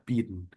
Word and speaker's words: bean: Nah, jadi di sini binnya itu BIIN, berhubung I 2 kali di tengah dibacanya I panjang, jadi dibacanya adalah bin.